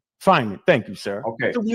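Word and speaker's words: Feynman: How do you pronounce that? Fineman. Fineman.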